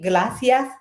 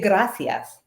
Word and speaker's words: gracias: freaking language I'm like how do you guys always hear him saying glacias how hard is it to say gracias oh yes U um